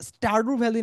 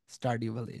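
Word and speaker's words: Stardew Valley: আমি উচ্চারণ বোধহয় ভুল করতেছি, আমি স্টারডু ভ্যালি, স্টারডিউ ভ্যালি যেরকম, দিস ওয়ান।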